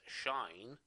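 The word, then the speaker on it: sinh: two hyperbolic functions the hyperbolic sine or general pronounced as shine okay and hyperbolic cosine which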